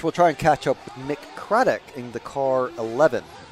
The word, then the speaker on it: Mick: Not Mike. Mick.